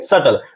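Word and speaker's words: subtle: जैसे हम लोग देखेंगे सटल मीन्स बी आ रहा है टी से पहले तो बी साइलेंट होगा।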